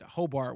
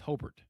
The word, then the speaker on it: Hobart: You could tell who was a transplant because you pronounce it Hobart when it's Hobart. Hobart. You say Hobart, the folks out there give you the meanest looks.